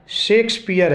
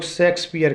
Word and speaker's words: Shakespeare: सही pronunciation शेक्सपियर है, लेकिन लोग शेक्सपियर कहते हैं। सेक्स की स्पेलिंग ऐसी एक्स होती है जिसका मीनिंग अलग होता है। शेक्सपियर की स्पेलिंग में SHAKESPEARE होता है। SHAKES उनकी स्पेलिंग है जिसको शेक्स कहते हैं, न कि सेक्स।